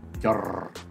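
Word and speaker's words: Yajure: How do you pronounce that? Yajur? Yajur.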